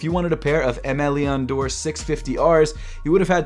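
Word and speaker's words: Aimé Leon Dore: up first of all i finally learned how to pronounce mleon door it's m leon door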